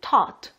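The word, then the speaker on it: taught: 발음들이 은근 안 들리더라구요 가르쳤다이 티츄의 과거형 미국식 발음은 tart 요 발음 확실히 기억해주세요 자 그럼 cart 이게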